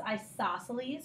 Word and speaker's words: isosceles: a pretty special thing in the way you pronounce this is isosceles go ahead and try a second isosceles and